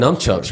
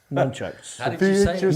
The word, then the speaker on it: nunchucks: Me and Greg Hudson, we had all kinds of I think numchucks are legal in some states.